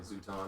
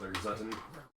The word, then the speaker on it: Zuton: say like Zuton or Zutton. Zutton? Yeah, Zuton or Zuton. Zutton, is that spelled like Sutton with the Z?